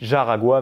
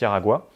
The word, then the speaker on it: Jaragua: Ils les ont exportés sur un territoire qui s'appelle Aragua, enfin ça s'écrit Jaragua, mais ça se prononce Yaragua, et ils ont totalement